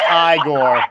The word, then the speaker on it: Igor: So when Igor brings the rain, It's pronounced Igor.